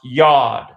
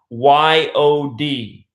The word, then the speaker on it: Yod: alphabet, which is pronounced Yod, Y-O-D, not unlike God. Sounds just like God.